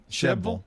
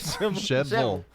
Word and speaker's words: Shelbyville: That's exactly how they've got it pronounced on here. Shebville. Well, isn't that the way you say it? Shebville.